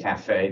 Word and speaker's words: CAFA: There's a website called CAFA. Okay. Cafe, they pronounce it actually.